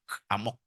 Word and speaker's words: amok: Bacanya mesti emak, amok.